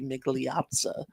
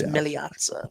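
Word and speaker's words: Migliazza: Well, I was So, the American way to say his name would be Miglatza. That's Miliaza.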